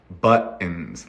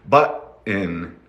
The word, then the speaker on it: button: I was saying earlier the word button is like Mountain some people will say mountain mountain and if you can say that's what we're doing we're stopping the sound with the T we're saying but in but in button button can you try